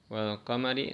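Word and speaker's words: وَالْقَمَرِ: Alif lamnya dibaca jelas, tidak diidghamkan.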